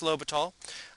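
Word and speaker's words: L'Hôpital: No, there's no S, although I will tell you that some history books actually do spell his name with an S in the middle. But anyway, pronounced L'Hopital.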